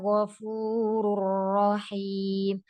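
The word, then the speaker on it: غفور رحيم: 'Fainnallaha' 'Ghafurur rahim' . Jangan menekan 'ghain' terlalu keras pada bagian makhraj-nya, tetapi dorong suara keluar. ' Gh' agar tidak bercampur dengan 'kho'. ' Ghafu', tipiskan 'fa', 'ghafurur rahim' .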